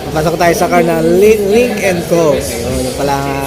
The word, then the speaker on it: Lynk & Co: Medyo hapon na guys no medyoapos muna natin yung mga natingin no at papasok tayo sa car na link and co ayun yun pala correct pronounce link and co philippines guys ha pasok